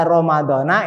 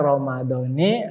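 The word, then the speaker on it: رمضانِ: Nah, yang masih baca Ramadhana itu tidak tepat. Jadi tepatnya Ramadhani hadis sanati.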